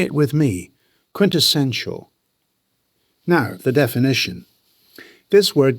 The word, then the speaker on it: quintessential: It has 4 syllables. The stress lands on the 3rd syllable. Quintessential. Say it with me. Quintessential.